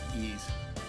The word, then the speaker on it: Ys: So, Ease, some people pronounce it, Wheeze, or, I don't know, anyways, it's Ease.